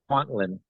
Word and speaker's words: Kwantlen: He's a council member, and forgive me if I mispronounce the name. I think it's Kwantien First Nation? Kwantien, yeah.